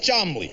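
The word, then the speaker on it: Cholmondeley: And this is my Uncle Chamandiali, pronounced Chamley.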